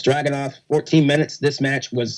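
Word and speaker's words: Dragunov: this right surprisingly Finn Balor again I cannot pronounce this guy's first name Thank You Christian it's dragon off 14 minutes this match was so much fun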